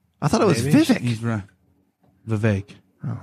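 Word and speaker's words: Vivek: did you call him V it's like it rhymes with cake it's not Vivic no it's VI do you know this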